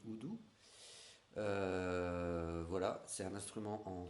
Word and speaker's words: udu: Ça s'appelle, ça s'écrit udu, mais ça se dit oudou.